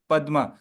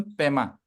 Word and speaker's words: पद्म: Guru Prema yes यस बट नॉट पेमा पदमा पेमा इ तन प्रशन द तिन people use to pronounce this न पेमा बट एक्चुअल प्रसन इ पदम पदम इ द फ्लावर ना lotus flower okay okay I will